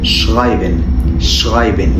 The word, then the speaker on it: schreiben: المقطع اللي معانا بعد كده مقطع ال SCH وده بيتنطق ش zum Beispiel schreiben يعني يكتب، وده Schule يعني المدرسة، وده schön يعني جميل.